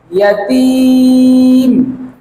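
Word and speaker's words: يَتِيمَ: ইয়াতীমা, ইয়াতীমা, ইয়াতীমা। এভাবে করে 10 বার বলুন। এই শব্দের উচ্চারণ হচ্ছে ইয়াতীম, ইয়াতীম, ইয়াতীম, ইয়াতীম।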